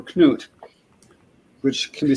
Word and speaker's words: Knut: Oh, and 1066 and all that called him Canoe for that reason. Canoe. Canoe, because he was Canute, but it's actually short for Knut, which can be spelled with a C or a K.